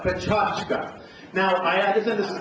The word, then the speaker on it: Pecha Kucha: We have a lineup of 6 speakers doing Pecha Kucha, or perhaps a better pronunciation is a Pechachka.